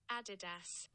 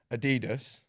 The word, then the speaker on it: Adidas: If you're from America, you're probably pronouncing the sneaker brand Adidas. Mm-hmm. That's completely wrong. It's Adidas.